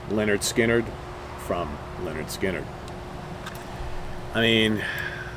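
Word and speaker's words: Lynyrd Skynyrd: al cooper of course it can only be pronounced leonard skinnered from leonard skinner i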